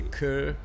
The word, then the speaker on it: Cœur: Yeah, but it's not quite core. It's a Cœur. Cœur. Yeah. Anybody French Canadian in the house? Cœur de Pirate.